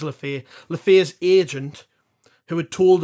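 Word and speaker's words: Le Fée: that he'd spoken to LEF or LEF uh I'm going to have to get you to pronouncing that I think it's lefair Leaf's agent who had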